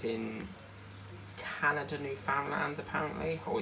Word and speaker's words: Newfoundland: Like, the amount of times I've heard news reporters say Newfoundland, Newfoundland, Newfoundland, you know, they pronounce it all differently. But it is actually for Newfoundland.